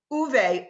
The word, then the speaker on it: Ove: Uwe, O-V-E. It's like sweet.